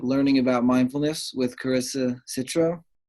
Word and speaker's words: Citro: Citro, Citro. Okay. Well, obviously you're looking at the spelling, but that's how you say it.